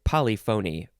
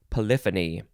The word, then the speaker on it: polyphony: the synonym is well i would want to say it polyphony but i'm pretty sure it's pronounced polyphony poly is multiple or